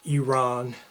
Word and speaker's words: Iran: is currently known as Iran, or Iran, the proper pronunciation.